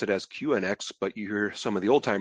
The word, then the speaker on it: QNX: And I guess newer guys like me here tend to pronounce it as QNX, but you hear some of the old timers here sometimes pronounce it both as QNX, like Unix, as well as QNX.